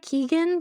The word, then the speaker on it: Keoghan: I think it's probably like Keegan because he's Irish, but just like no one really knows, okay? That's also the takeaway I got because no one pronounces it the same. And I'm like, this isn't helpful. I've heard Kogan, I think that's wrong.